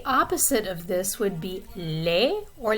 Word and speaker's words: laid: So laid, the D is not pronounced, it is silent. When you add the E to it, then you do pronounce the D, and the vowel sound in the middle changes a little bit. It goes from laid to laide.